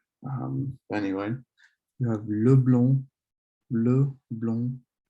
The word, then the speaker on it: blond: You don't really pronounce the D in the masculine form of blonde, le blond, but then the E here in the feminine form, you'd pronounce it la blonde, so blonde. Then you have le brun and la brune.